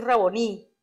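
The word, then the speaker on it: Rabboni: él y exclamó rabón y dice aquí raboni pero aquí tiene el acento en la y y en hebreo significa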